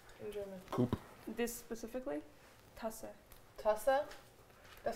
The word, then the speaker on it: Tasse: Tasse. Tasse? That sounds like another word for pussy. Like, that is the weirdest... Tussy? No, that's the weirdest cup tasse.